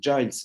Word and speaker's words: Gilles: Un autre Gilles, mais qui se prononce Giles Batman, directeur du développement